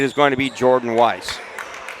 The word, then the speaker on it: Weiss: It is going to be Jordan Weiss. I believe you pronounced that Whezzy. That's right. Whezzy. You told me that. I got to get that right.